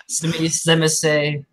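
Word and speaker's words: Tzimisce: Zemise. There's other pronunciations, like it's the T1.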